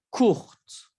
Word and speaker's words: courte: Court, courte. Se pronuncia la R y en femenino se pronuncia la T.